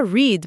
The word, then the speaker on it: read: Write e wrote, read que continua read, mas muda a pronúncia. Sim, igual a cor vermelha.